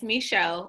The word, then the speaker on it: Micheaux: festival get started so you are saying it correctly it's misho we actually have a